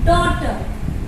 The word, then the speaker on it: daughter: Next one is daughter. D-A-U-G-H-T-E-R. Daughter. Here also you can see A-U sit together and sound like O.